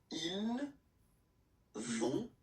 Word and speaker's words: ils vont: So ils vont, final T, not pronounced.